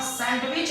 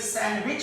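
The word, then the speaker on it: sandwich: आगे हम और बात करते हैं, जैसे कि डी के बाद अगर GNSW हो तो डी साइलेंट हो जाता है। जैसे यहाँ पे देखिए ब्रिज है, ब्रिज के बाद यहाँ पे हम सैंडविच नहीं बोलेंगे, इसे सैंडविच बोलेंगे, एक्सेट्रा।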